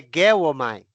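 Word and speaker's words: γεύομαι: grega aí pra experiência é guom geomi tá tá geomi porque é é a maneira certa de de transliterar Tá mas a pronúncia é guom que significa Olha que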